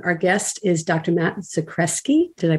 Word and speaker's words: Zakreski: really interesting conversation our guest is dr matt socreski did i pronounce that right you got that right excellent